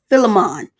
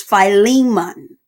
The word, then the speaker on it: Philemon: he's a preacher and she like mom has been mispronouncing this word the whole time is not it's not Philemon its filing mutton so Phi Lehman Hebrews